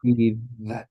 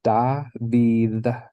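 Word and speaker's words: דוד: Or is that Yeah, you're going to pronounce it with your tongue in between your teeth and doing kind of like a TH sound. that? David.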